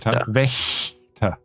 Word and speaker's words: Wächter: Hans Wachter. How do you spell it? W-A-C-H. W is a V.